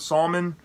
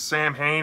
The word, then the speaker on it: Samhain: the classroom with the word Samhain or I think that's how you pronounce it salmon uh written on the chalkboard and Donald Pleasence infamously pronounces Sam Hayne and they kept it in the movie This introduces this concept